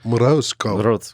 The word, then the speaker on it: Morozko: Morozco.